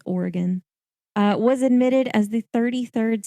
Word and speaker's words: Oregon: Oregon, it's not Oregon, it's Oregon, was admitted as the 33rd state of the United States.